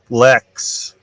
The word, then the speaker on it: Lexx: It could be like Lex. It's spelled LEXX.